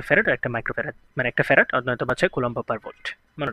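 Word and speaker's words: farad: বেশি সেটা হচ্ছে ফ্যারাড বাংলাতে উচ্চারণ হচ্ছে ফ্যারাড যদিও ফ্যারাড হচ্ছে একটা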